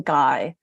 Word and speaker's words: Gui: other people about him I call him guy and I just spell it GUI because mother Gaia has